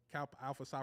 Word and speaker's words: Kappa Alpha Psi: So shout out to Kappa Alpha Psi Fraternity Incorporated.